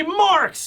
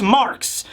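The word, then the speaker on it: Marx: It's this dude right here, Max Marks. Max is spelled all in capitals, and I think Marks is spelled M-A-R-X.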